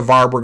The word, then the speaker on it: Warburg: That's the Warburg effect, named after him. The W's are often pronounced like V's. The Warburg effect is cancer grows in oxygen-deprived tissue.